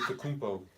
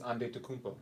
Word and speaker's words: Antetokounmpo: Antetokounmpo. Yeah. What's the pronounced name again? Giannis Antetokounmpo. Yeah. Giannis Giannis Antetokounmpo. Antetokounmpo. What the hell? It's like 7 syllables in that thing.